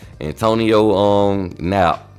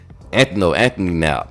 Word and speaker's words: Anthony Knapp: But first guy, I'm going to talk about Antonio Knapp. Anthony Knapp. My bad, I pronounced his name wrong.